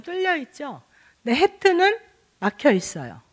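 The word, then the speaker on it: ח: 그리고 음가가 히읗과 키읔 두 개가 써 있죠. 어떤 때는 히읗이고 어떤 때는 키읔인데 주로 그냥 히읗으로 발음 날 때가 많은 것 같아요. 근데 키읔으로 나오는 경우는 그렇게 드물었던 것 같아요. 그래서 이 해트도 이제 히읗으로 알고 있으면 무난하고요.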